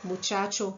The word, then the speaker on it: muchacha: essa letra e e temos que tomar cuidado com c e a ti c&h com som de Ti Tico Tica muchacha muchacha muchacha e outras palavras aí